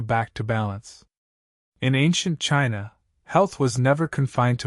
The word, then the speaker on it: qi: In ancient China, health was never confined to muscles, bones, or tissue. It was about energy, chi, pronouncedqi, the vital life force that flows through every living being.